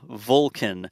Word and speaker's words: Vulcan: an F Falcon and Vulcan is like a vul Vulcan the in sounds the same to me like I don't say Falcon in Vulcan right like it's an